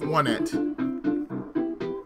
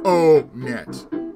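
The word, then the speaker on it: Onett: Because if you don't know where everything is, this is the town of Onet. Not O-net. Some people say O-net, but it's really Onet.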